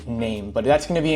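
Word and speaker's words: Naim: I said I am I pronounced it wrong somebody from corporate actually corrected me kindly and said it's actually name but that's going to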